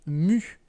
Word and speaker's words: nu: cette lettre grecque est elle se prononce nu bien pour vous entraîner